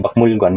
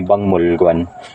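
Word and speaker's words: 박물관: Ang pagbasa dito ay hindi Bakmulguan, kundi Bangmulguan.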